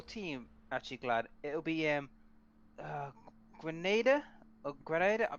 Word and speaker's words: Grenadier: It'll be, Grenada? Or Grenada? How do you Grenadier? pronounce that one? That little goblin. Grenadier.